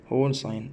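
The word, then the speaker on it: whole sign: طيب كلمه هول ساين، دبليو اتش او ال اي، هول ساين، من الانجليزيه للعربيه ننطق كده هول هول، ماشي، ننطقها كمان مرة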